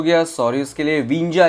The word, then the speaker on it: Windsor: विंजा इसकी प्रोनाउंसिएशन करेंगे, क्या बोलोगे? विंजा, विंजा, WINDSOR, विंजा। ओके, तो इसको हम आगे बढ़ेंगे।